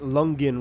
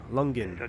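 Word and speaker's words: Langen: You can pronounce it Lungen radar. Lungen.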